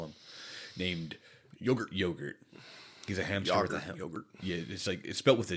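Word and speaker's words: Jogurt: to call him, named Yogurt. Yogurt. He's a hamster yogurt. Yeah. It's like it's spelled with a J, but everyone calls him yogurt. They give the Y like yogurt.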